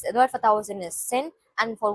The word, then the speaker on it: 千: Then sen. Sen means 1000. Sen. Sen. Sen means 1000. You can hear the Japanese pronunciation as well.